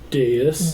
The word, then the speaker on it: dais: Dais.